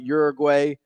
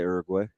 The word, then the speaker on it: Uruguay: come we're talking about Uruguay who was not an outstanding roster so some like to say uguay Uruguay no U not like Ur urbina like the picture I think